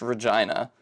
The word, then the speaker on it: Regina: town in in Canada was not pronounced Regina it was pronounced Regina you know it's a